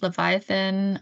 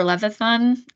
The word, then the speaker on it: Levithan: Every Day, the graphic novel by David Leviathan or Levithan. I always forget the Leviathan.